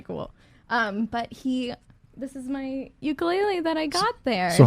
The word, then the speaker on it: ukulele: But this is my ukulele that I got there. so how do you say really, ukulele or ukulele?